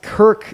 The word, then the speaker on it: Kirc: As well as Kirk, that's spelled Kirc, not Kirk.